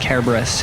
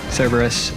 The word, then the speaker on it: Cerberus: Actually, I think I remember in like 8th grade, no, 9th grade, my Latin teacher made sure we knew that it was actually pronounced Cerberus in Latin.